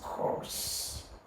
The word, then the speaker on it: coarse: one correctly as well this word is pronounced as course it has the same pronunciation as this course now this is the